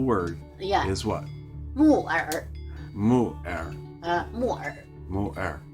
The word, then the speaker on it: 木耳: 木耳 Mu'er.